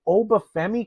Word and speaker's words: Oba Femi: I'm sorry. Then Oba, I got to say his name correctly. Then Oba Feami came out and just had his way with Brock Lesnar, right?